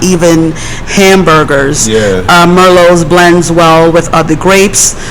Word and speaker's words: merlot: some people may look at it and say merlots but the proper pronunciation is merlot merlot merlot is a red